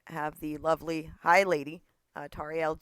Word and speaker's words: Tauriel: Today I have the lovely Hi Lady, Tauriel G, how do you say your name properly before I ruin it? No, you got it right, Tauriel.